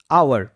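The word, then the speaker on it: hour: Next word আওয়ার। আওয়ারের ক্ষেত্রে H silent.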